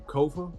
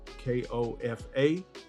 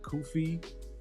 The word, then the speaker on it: Kofa: With that said, I'm Kofa, Kofa. It rhymes with sofa. It's not Kofi, Kofi, Kufu, or any other variation thereof.